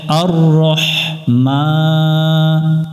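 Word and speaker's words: الرحمن: রাব্বিল আলামিন দ্বিতীয় আয়াত আয়াতের শুরুতে আমরা আলিফ অক্ষর দেখতেছি পরের অক্ষরে তাসদিদ আছে যদি কোন আয়াতের শুরুতে আলিফের উপরে কোন কিছু না থাকে পরের অক্ষরে যদি তাসদিদ থাকে তাহলে আমরা আলিফের উপর মনে মনে জবর ধরে পড়বো আ মিলবে র এর সাথে আর র মিলবে হাই এর সাথে রহ আর রহ আর রহমান মিমের উপরে খাড়া জবর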